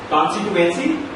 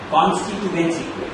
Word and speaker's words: constituency: the same platform if you have any other pronunciation for the word constituency if you have any variation any other alation constituency constituency any priation there not the right sound